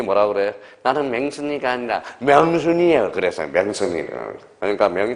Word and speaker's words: 명순: 그래서 맨날 김영삼이가 발음이 안 돼서 뭐예요? 맹순아 그래서. 그러면 그 영부인이 뭐라 그래? 나는 맹순이가 아니라 명순이에요.